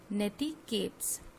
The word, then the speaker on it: netiquettes: See this word, it is pronounced as netiquettes, and it is made up of two words: network, N-E-T, network, and etiquettes.